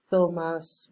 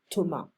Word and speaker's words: Thomas: So, le serveur Thomas, we don't pronounce the S, we don't say Thomas, we say Thomas.